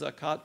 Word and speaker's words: zakat: establish regular prayers give zakat uh the Arabic word for alms uh as most theologians would uh concede it's a lone word it's pronounced zakat but it's actually spelled zakut if you uh know